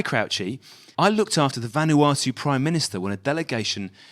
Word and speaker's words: Vanuatu: appears the whole of van artu is now listening to our podcast believe it or not yeah i mean it's vanuatu oh sorry mate no no i couldn't pronounce it last week either so it's vanuatu vanuatu yeah so we've